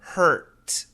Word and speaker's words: hurt: We stop very clear at the t. There's no vibration.